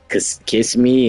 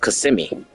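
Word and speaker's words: Kissimmee: there, we was saying we was saying like kiss me and all that. Uh the locals basically said we could tell y'all ain't from Florida. Um it's pronounced CMI.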